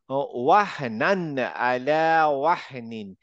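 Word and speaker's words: وَهْنًا عَلَىٰ وَهْنٍ: وهنا وهنا على وهن আচ্ছা, এখানে দেখো, ওয়াহনান আলা ওয়াহনিন। এই যে নান বললাম, আমি ক্লিয়ার নান উচ্চারণ করব, কোন রকমের গুন্না ফুন্না কিচ্ছু হবে না।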